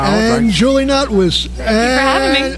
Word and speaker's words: Notwicz: It is Notwicz. Notwicz. Yeah, that sounds like a paste of some kind. That's the real Polish version of it.